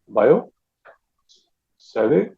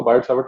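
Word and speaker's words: Biot–Savart: अब ये फ्रेंच है, तो जो फ्रेंच पढ़ते हैं वो इसको ठीक प्रोनाउंस कर सकते हैं। अपने यहाँ पर देसी जितने भी हैं उसको बायोट सावर्ट लॉ करके चला देते हैं।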